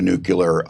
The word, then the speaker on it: nuclear: have a nuclear weapon the word is nuclear yeah what a so people like him on on purpose mispronounce it to sound folksy nuclear it's nucle a